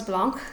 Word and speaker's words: Blanche: I believe it's pronounced Rose Blanche because she's German, and so her last name would not have a CH hard sound, but actually a sound.